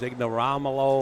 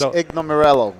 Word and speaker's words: Ignomirello: mason and tony iggy his last name is ignoramolo or something i can't pronounce it yeah it's ignomerello so we call him iggy for sure yeah eggmarello that's it and the score right